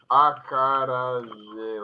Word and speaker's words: acarajé: It's acarajé like that.